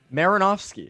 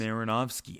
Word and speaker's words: Marinofsky: Now we have Marinofsky. How would you pronounce that? Marinofsky. It's just how it's just how it's written. It's just how it sounds.